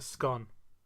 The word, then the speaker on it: scone: So it rhymes with gone. Gone. It's a scone.